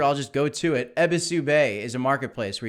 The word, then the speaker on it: Ebisu: Schwiz, the original creator, has told me that it's Ebisu. Ebisu is the Japanese god of good fortune or something like that.